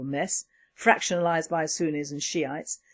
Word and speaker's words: Shiite: Well, as I foretold, Iraq is a total mess, fractionalised by Sunnis and Shiites. I do not apologise for this pronunciation, but it reads like Shiite, not Shia, as Niger is not Niger.